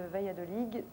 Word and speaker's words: Valladolid: Je rappelle juste le titre de votre livre, La controverse de Valladolid. Et donc, alors... Vous êtes d'origine espagnole? Oui, tout à On fait. prononce pas le D à la fin.